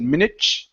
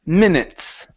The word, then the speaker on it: minutes: here so here uh you had pronounced it like a Portuguese T actually you said minich okay so instead of minut it's minutes minutes minutes all right now give